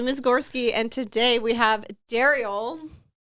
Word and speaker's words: Derrial: I said it because Thank you for saying my name correctly. You're welcome. Cuz Ryan, who I've known for years, has done different altercations of my name today. Daryl, Derell.